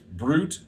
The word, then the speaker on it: Bruit: That's, like the animal, Bruit, spelled like fruit with a B, not like a brutish monster.